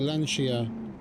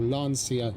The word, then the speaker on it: Lancia: One of my friends was really into the L the Lancia or Lancia depending on how you pronounce it.